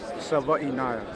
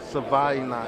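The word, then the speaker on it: Savaiinaea: The last name is Savianaya. Savianaya.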